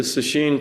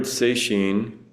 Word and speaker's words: sesshin: The Sesshin practice, the word Seishin, it's a two-character compound. One pronounced Setsu, one pronounced Shin, means touching the heart-mind.